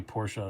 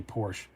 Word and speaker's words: Porsche: say it like that just like i say porsha and i get really annoyed when people say porsche although i'm not i